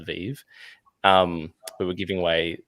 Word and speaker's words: VeVe: the hashtag christmas was christmas vv but we pronounced christmas vive um we were giving